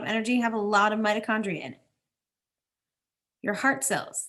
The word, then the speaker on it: mitochondria: needs to go oh mitochondria there's another CH that sounds like a K in our science words we don't say CH like normal CH we say mitochondria like a k sound supplies energy to the